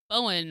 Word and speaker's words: Bowen: But if he says it, they're like, he's like, Bowen rhymes with Owen. And I'm like, when he introduced himself to me, he's like bow and arrow.